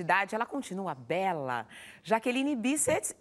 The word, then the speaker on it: Bisset: Here in Brazil we say Bisset, but it's not the way you used to say. No, it's Bisset. Bisset. Bisset. Bisset. Bisset. It's Scottish. Because it's Scottish.